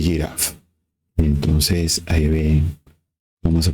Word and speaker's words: ggraph: también tiene asociado G que la pronunciación que le deja es y Y giraf entonces ahí ven vamos